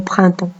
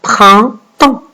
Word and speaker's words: printemps: Vous avez 2 sons dans le mot printemps. Vous avez le 1 et vous avez le AN. Le 1 qui s'écrit avec IN et le AN qui s'écrit avec EM car il est devant la lettre P. Donc, printemps. Et vous avez une lettre muette à la fin. Printemps. La lettre muette.